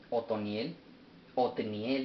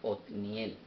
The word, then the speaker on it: Otniel: Otniel, disculpen, todo este tiempo he estado escribiéndolo y diciéndolo mal. Otniel, me disculpo.